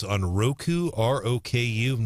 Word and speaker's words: Roku: today yeah uh i i know that it's pronounced uh roku oh good i didn't i mean brian did